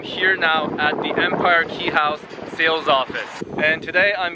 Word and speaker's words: Quay House: It's spelled Quay, but somehow it's pronounced Quay House, just like my name.